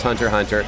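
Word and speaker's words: Hunter × Hunter: called hunter hunter ha spelled hunter x hunter pronounced hunter hunter I play a character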